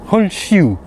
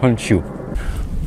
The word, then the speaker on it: Honshu: On va continuer la prononciation du U. Donc, Honshu, raison pour laquelle on rajoute un U à la fin de Honshu.